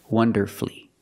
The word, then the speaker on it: wonderfully: You have two syllables before F-U-L-L-Y, but the stress is on the first syllable. In this case, the U is silent. Masterfully, beautifully, wonderfully.